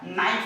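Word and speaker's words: knife: कैसे होता है, तो नो, यहाँ पे देखो, यहाँ पे के साइलेंट होगा, एन से पहले अगर के आ जाता है तो के हमेशा साइलेंट होता है, नो हो जाएगा, नाइफ हो जाएगा।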